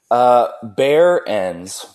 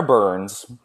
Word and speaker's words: Behrens: pronounce your last name bear ends bear ends because I always add an extra syllable to it so it's Behrens it's okay I had a teacher who used to just always call me burns I've given